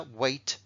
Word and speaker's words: weight: vuelvo a recordar que aunque se parezcan mucho escrito este se pronuncia weight y este se pronuncia